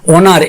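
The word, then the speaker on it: honour: ভাবে কি হয়েছে না অনার এইচ ও এন ও ইউ আর এখানে ও থেকে আমরা উচ্চারণ করছি অনার তাহলে অনার্ড মানে সম্মানিত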